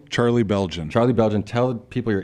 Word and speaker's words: Beljan: in how do you say your name Charlie Belgian Charlie Belgian tell people your Instagram and stuff